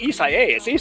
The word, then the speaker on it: Isaias: watching Wink, the weather authority, everybody is like Isaias. Every other word is Isaias. Okay, so now I've got anyway, but just Isaias.